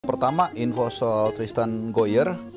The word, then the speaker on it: Gooijer: pertama info soal Tristan Goyer, benar ya gue bacanya? Goyer. Tadi. Hoyer. Ada kumurnya dikit gitu.